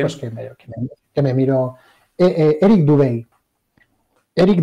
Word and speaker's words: Dubay: Eric Dubay. Eric Dubay, se escribe D-U-B-A-Y.